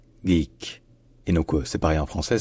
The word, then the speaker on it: geek: cert en anglais à l'origine ce mot se prononce simplement geek geek et c'est pareil en français ça devient simplement